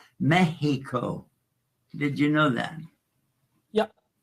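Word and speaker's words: México: from Tas Indians because the x is pronounced like a ha in Spanish it's not Mexico it's Mexico did you know that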